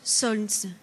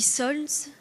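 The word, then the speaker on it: солнце: Le mot français « soleil » et le même mot russe « solnz » où le « l » se prononce à peine. Tantôt je dis « solnz », tantôt en ramassant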